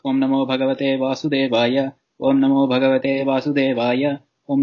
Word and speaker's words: Om Namo Bhagavate Vasudevaya: Om Namo Bhagavate Vasudevaya Om. And you're actually doing it right. Just excellent. There's no need for the second Om at the end.